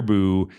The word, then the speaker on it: Buh: I've learned to say Boo. It kind of sounds like what a ghost would say, but it's actually spelled B-U-H.